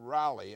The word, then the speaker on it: Raleigh: I'm Joseph Feinstein and today on Teen Talk, we're about to set sail on Operation Rally as they call it, which is pronounced Raleigh in America, with a group of